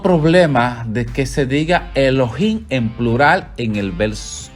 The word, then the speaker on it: Elohim: Génesis dice Elohim creó Elohim que sería el loa singular al agregarle Inn es el plural Elohim se pronunciaría Elohim es en plural serían